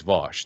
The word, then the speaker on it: Vaush: people call me vaush i don't know why it's v-a-u-s-h in in english that's always vosh that's f that's how it's pronounced like 98 percent of the time i don't know how